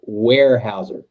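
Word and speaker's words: Weyerhaeuser: you're not kidding there zach uh apparently apparently pronunciation counts around here so warehouser got it warehouse yeah well you know i've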